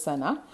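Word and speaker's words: Sanne: My friend Sana, this is pronounced as Sana, who is good at poetry, offered me help to write the essay from the beginning to the end in verse.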